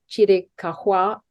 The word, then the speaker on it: Chiricahua: I understand it was once a sacred area for the, I'm not sure, Chiricahua, you could pronounce it correctly for me, Apaches.